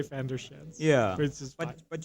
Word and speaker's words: van der Schans: So my name is van der Schans.